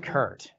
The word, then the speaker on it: Coute: able to move forward it's actually pronounced curt as if there's an r in it doesn't yeah it's azorian